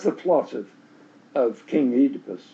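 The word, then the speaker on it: Oedipus: So that's that's the plot of of King Edypus, right? Um so this becomes the Edypus complex. think Americans say Edipus, which strikes me as strange, but anyway, I've heard it both ways.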